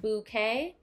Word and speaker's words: bouquet: I just got that bouquet it's spelled bo o - ka Y like okay flowers haha I just got